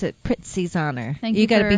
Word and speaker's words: Prizzi's: prizes no I know but the way you pronounce it Prizzi's honor thank you gotta be hard on that